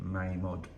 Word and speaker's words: Mamod: read this here so mammed was founded in 1937 and closed uh towards the end of last year and apparently we uh pronounce it wrong it's supposed to be May mod so mammoth's from England